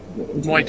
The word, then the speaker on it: Muay: Is it Muai? It's not. It's not. Muay.